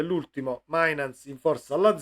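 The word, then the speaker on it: Mijnans: c'è Wiffer e c'è Mainans si legge, perché io vivendo in Olanda so benissimo che il dittongo, che mi sembra si chiami così in italiano, IJ, si legge EI, così come il tedesco quando hanno queste vocali vicine.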